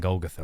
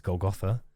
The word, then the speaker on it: Golgotha: will um I don't know why I'm saying Golgotha I've never pronounced it like that before in any time I've played caves of could it's Golgotha kayakukya if we go to kayakukia we can